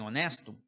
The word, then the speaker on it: honest: Uma palavra honesta ou um homem honesto.